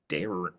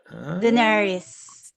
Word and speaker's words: Daenerys: Daenerys Daenerys Daenerys Targaryen Can you